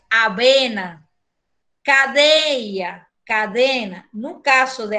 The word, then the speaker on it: avena: No caso de aveia, você vê que tem o aveia, aveia, que vocês pronunciam o V diferente, e nós, no espanhol, pronunciamos esse V de avena igual que o V de bola. Avena, tá?